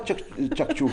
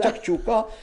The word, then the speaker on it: tchakchouka: Voilà, c'est pas tchakchouk. Tout c'est tchakchouka et tchakchouka c'est fait en pâte.